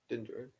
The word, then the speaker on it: Din Djarin: Yep, Din Djarin.